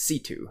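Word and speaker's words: C.C.: for also reminding me that it's not actually pronounced cc it's pronounced situ which uh i guess i should have paid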